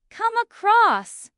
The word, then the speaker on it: come across: The stress is usually on across in both meanings. Come across.